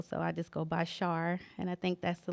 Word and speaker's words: Sharr: that's what you say rhymes with star so they can go by that as Char okay so um tell